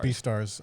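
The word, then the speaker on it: Beastars: it's called b stars it's literally called that's how you pronounce it b star b stars okay i think i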